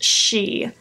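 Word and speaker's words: sidhe: shadows the first one it's spelled s idhe but it literally says in the card pronounced she so she I don't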